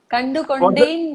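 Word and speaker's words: Kandukondain: Like, okay, I'm not going to mispronounce it. You say it. What? How do you say it? Kandu Kunde. Kandu Kondain.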